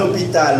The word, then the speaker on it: hôpital: Se supone que el H no se pronuncia. Por eso decimos H aspirada. Tú tienes que poner también el masculino. ¿Perdón? Merci. Ton hôpital, mon hôpital, c'est bon?